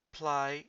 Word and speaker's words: πλάι: Πλάι σε. Pay attention on this one. This is πλάι σε, which is besides, not play se.